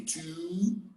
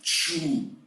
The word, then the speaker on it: two: don't believe your teacher the three words have exactly the same pronunciation we say two two and two not true true doesn't exist one two and then